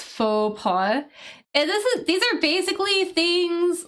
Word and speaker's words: faux pas: So I know the pronunciation of that is a little weird, right? We don't pronounce the X. It's faux pas.